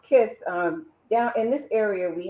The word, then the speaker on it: KYS: It's Ms. KYS for the initials of my name. And it's Okay. pronounced Kiss.